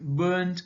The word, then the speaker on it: burnt: So these verbs burn, burnt, burnt, or burnt, burnt, here R is silent.